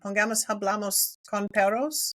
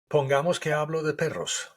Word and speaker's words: Pongamos que hablo de perros: Pongamos, hablamos con perros. No, is that right? Say it again. Say it. Pongamos que hablo de perros. Ah, right. I said it wrong.